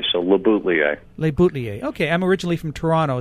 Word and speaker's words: LeBoutillier: French it should be labouti but I put the L's in there because we Americans say things better that way so labuta leer okay I'm originally from